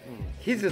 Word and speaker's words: 氷頭: 柔らかいはい氷頭まで氷頭と書いてですねヒズと言います人差し置いて今